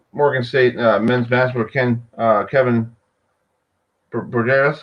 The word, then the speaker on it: Broadus: It's BROADUS. Yeah, Kevin BROADUS will be on, and he's actually here with us right now.